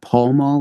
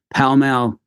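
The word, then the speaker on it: Pall Mall: all other Tennessee residents I've been pronouncing that Paul mall like the cigarette brand for like the last 40 something years so uh I do apologize no offense me palal is the place in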